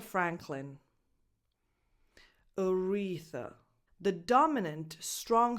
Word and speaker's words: Franklin: Same vowel that you have in cat, bad, Franklin. This last syllable is unstressed. So that vowel is a schwa, no definition. Just go from cl to n. Franklin, clin.